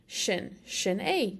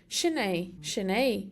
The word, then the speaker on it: sin é: So this looks like the word sin in English, but in Irish that first S gets an SH sound often, so it's shin. Shin A, that's it. Shin A.